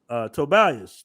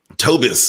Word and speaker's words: Tobias: I pronounced it right today, right? Tobias. Yeah, Tobias. You did. All right. Yeah, yesterday you was like, yeah, I was like, go ahead. What was I calling you? Tobis.